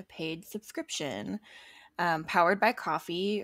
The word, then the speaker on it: Ko-fi: subscription um powered by coffee or pronounced coffee but spelled k-o-f-i and as an independent